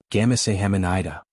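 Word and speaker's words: 감사합니다: "No, the emphasis is on the second syllable." "Gamase hamanida." Adaora tried again. "Gamase hamanida."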